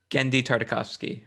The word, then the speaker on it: Genndy Tartakovsky: I can't pronounce his name still. Genndy Tartakovsky.